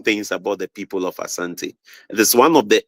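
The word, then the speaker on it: Asante: well but pronounce it Ashanti but we don't say Ashanti we say Asanti so there is a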